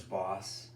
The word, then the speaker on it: Bas: So you know how you pronounce L-A-S, Las Vegas. Right. So my last name is spelled B-A-S. Okay. Boss. Boss.